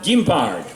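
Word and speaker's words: guimbarde: musical instrument on francais in french it's called gimbard but you might know it as a jaw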